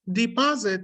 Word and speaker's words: deposit: So in this case, deposit, not deposit. What went wrong was that I tended to stress the wrong syllable. The second one is a stress syllable, but I tended to stress this first one, which was wrong.